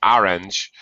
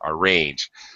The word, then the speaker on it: arrange: uh yeah arrange uh not orange second syllable stress and the the the second a is the long a sound so arrange yeah okay you arrange